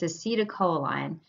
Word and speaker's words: acetylcholine: So this first one, everybody has a really hard time pronouncing always, but it's acetylcholine. And acetylcholine is the most common neurotransmitter, and that's because